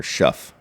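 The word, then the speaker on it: Shough: It's like Tyler Show. yeah, Yeah. It's showtime. Tyler Schuff. I would. There you go. Yeah. Though Show. Yeah. Tyler Show. Tyler Schuff. It rhymes with rough. So because of that, I mean, I'm not touching any Saints.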